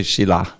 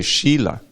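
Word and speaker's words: shila: when we we mean we mean the stone we should say shilla which germany didn't say sheila long i if you're going to if you're going to mispronounce it at least say sheila but not sheila because then you're talking about behavior i'm going to get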